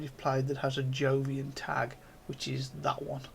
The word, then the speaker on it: Jovian: played that has a Jovian tag, which is that one. I keep pronouncing that as Jovian, but I don't think it's pronounced Jovian. I think it's pronounced Iovian, but I'm not 100% on that.